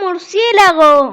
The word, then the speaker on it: murciélago: el maldito nos va a mostrar ahora un murciélago un murciélago una palabra larga ahora vamos al primer paso que es separar en sílabas separamos entonces por cien la go cuántas